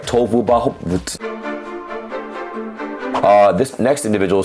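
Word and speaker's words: Tohuwabohu: So I said it right, Tohu Vabohu.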